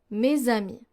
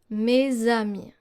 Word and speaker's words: mes amis: For the Z sound, we have, for example, mes amis, mes amis. So you don't pronounce it like an S, but rather like a Z. Mes amis, mes amis.